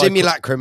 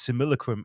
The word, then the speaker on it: simulacrum: um simil or simulacrum we have this guy simulacrum is the actual pronounce the correct pronunciation but if you think about it the way that Jason says simil is is the same way that American people